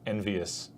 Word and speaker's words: EnVyUs: team team envyus and pronounced envious but spelled envy us it depends on how